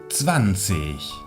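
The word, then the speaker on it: zwanzig: el resto son regulares el 20 lo diremos francis francis aquí tenemos dos zetas que se pronuncian como ts una w que se pronuncia como una y la final podemos pronunciarla como si fuese un ace h o podemos pronunciarla como si fuese una k samsic o sam 6 hay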